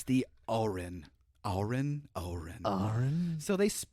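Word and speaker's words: Auryn: take this it's the Oren Oren Oren so they I always thought it was like Oren with an O but it's spelled a-u-y-r-n so it's like oh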